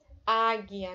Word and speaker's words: águia: A letra U não é pronunciada na palavra águia, né?